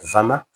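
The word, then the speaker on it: Werner: economics professor called Richard Vmer. I say VMA because of the way they pronounce the Germans pronounce their W's. No, it's not. They pronounce them as V, but it's W E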